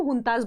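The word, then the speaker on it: junta: Military leaders होते हैं इनको हम हुंताज बोलते हैं, जे को हम एच की तरह प्रोनाउंस करते हैं, ठीक है।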